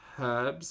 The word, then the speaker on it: herbs: whz did I say herbs incorrectly one addiction is hard for sure roasted celery the H is silent what do you mean